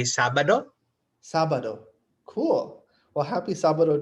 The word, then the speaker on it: Sabado: We say Sabado.